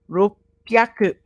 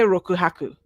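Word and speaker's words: 六百: This becomes sen ropyaku. Okay? It's a thing about pronunciation. It's difficult to say rokuhaku. It's just too much. Rokuhyaku. Rokuhyaku. So we just join them together so we can say them.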